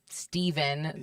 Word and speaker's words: Stephen: Stef because your name is spelled like the Steven that is the bad Steven. Spelled like Stephen. It's spelled like Stephen, but people think it's Steven.